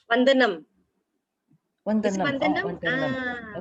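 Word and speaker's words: वन्दनम्: How to pronounce? Vandanam.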